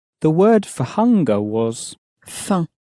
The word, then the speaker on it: faim: very clearly pronounced, but the M on the end of faim was not pronounced, at least not clearly.